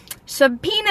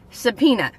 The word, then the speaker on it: subpoena: dad's a good guy subpoena is today's word of the day subpoena now subpoena a lot like subscribers is being pronounced differently than it's written have you ever watched